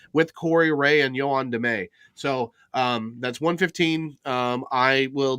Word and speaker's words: Damet: our leadership is now Ray and Damet. It rhymes.